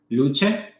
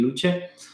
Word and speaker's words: Lucha: created another brand called luche or Lucy whatever it is your pronunciation but it's supposed to be Lucha and under the name